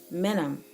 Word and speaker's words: minim: I am you know so just think of saying minimum but you're not saying the entire word just in the minimum and then semi break